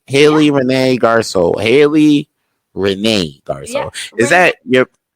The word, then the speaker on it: Garceau: renee am i saying that right haley renee garco haley renee is that yep is that a